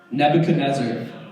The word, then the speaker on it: Nebuchadnezzar: going to say a really funny name ready Nebuchadnezzar how many of you guys can say that